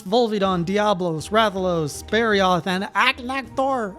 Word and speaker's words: Agnaktor: Diablos, Rathalos, Sparioth, and Agnaktor. I know it's pronounced more like Agnaktor or something, but I can't stop saying Agnaktor, which just sounds funny to me.